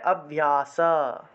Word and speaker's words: অভ্যাস: অভ্যাস উচ্চারণ করতে পারতাম অর্থাৎ হসন্ত থাকলে সেই অক্ষরটা আগের অক্ষরের সাথে একসাথে উচ্চারণ হয় সেই ক্ষেত্রে আমরা অভ্যাস বলতে পারতাম কিন্তু এই ক্ষেত্রে তো হসন্ত নেই দন্তস এর নিচে তাহলে অভ্যাস অভ্যাস এভাবে উচ্চারণ করতে হবে সবাই বুঝতে